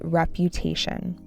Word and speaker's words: reputation: Ming worried about his reputation. Reputation. Emphasis on the third syllable.